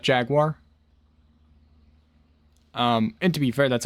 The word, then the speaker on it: Jaguar: and Jaguar, and then if you are Jeremy Clarkson, you say Jaguar, not Jaguar.